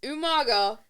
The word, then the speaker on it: Umaga: And your match of the week is CM Punk versus Umaga. I'd say it weird. Usually I say it friggin' like British. You actually nailed it. I actually said it right.